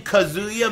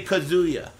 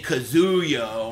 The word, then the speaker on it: Kazuya: and they go he's the commentators always say kazuo or kazuo you know main man's the only one that pronounces it right Kia well excuse me